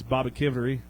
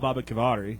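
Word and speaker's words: Baboquivari: back next week against, I believe it's Baba Kivery. And that's how you say it. Baba Kivery. But I call it Baba Kivari, so I think that's a lot better.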